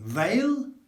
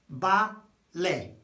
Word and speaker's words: vale: What does that say? Veil? No, remember the vowels, okay? A, E. When you see it, you say it. Ba, le, bale. One of the most common expressions, words in Spanish, full stop.